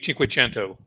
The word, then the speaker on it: Cinquecento: You always pronounce it in Italian. It's always Cinquecento.